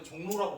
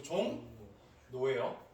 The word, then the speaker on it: 종로: 뭘로 얘가 예시 보여드릴게요 종로 어떻게 바르면 종로 근데 여러분 종로라고 발음을 자꾸 나오는데 그러지 마시고 종 노웨어 그죠 얘도 끄면 똑같이